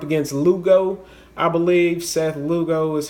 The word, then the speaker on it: Lugo: Marlins going up against Lugo I believe Seth Lugo is how you pronounce his name yeah I like Miami man